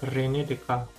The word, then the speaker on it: Descartes: seorang matematikawan asal Perancis Reni dekat yang lahir pada tahun 1596 dan wafat pada tahun 1950 klinikdk dibacanya memang seperti itu bukan Rene Descartes karena beliau adalah seorang berkebangsaan Perancis dan memang di Perancis sangat sering dijumpai antara penulisan dan penyebutan kata itu cukup jauh berbeda contoh lainnya adalah perusahaan